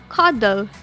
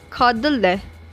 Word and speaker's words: cuddle: Anytime there is a consonant-LE, the E is usually not pronounced. For example, the words cuddle and giggle. These words are pronounced as cuddle and giggle and not cuddle and giggle. As you can hear, the E is not pronounced.